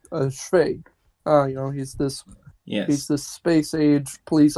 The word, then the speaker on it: Cwej: I collaborate with other people, and it's all about CWEJ. That's how I pronounce it, but his real name, how it's really pronounced is CWEJ.